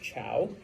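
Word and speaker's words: Zhou: known as the Chow I know it's spelled with a z but it's pronounced Chow all right uh there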